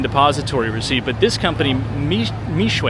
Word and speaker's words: Mixue: But this company, Mixue, I think it's pronounced, M-I-X-U-E, is now also coming to the United States.